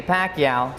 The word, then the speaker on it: Pacquiao: I'm certain the future is going to be tremendous for the Pac-Man, Manny Pacquiao.